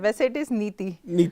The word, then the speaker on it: Nithi: नीति सही है? ये आई थिंक सो ये साउथ इंडियन होने की एक छोटी सी एक बैक है ये, यू नो, नेगेटिव कि एच हमारे नाम में लग जाता है।